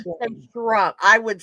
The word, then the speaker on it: Shrum: It's Rum. pronounced Shrum. rum. No, Shrum. RUM. Shrum.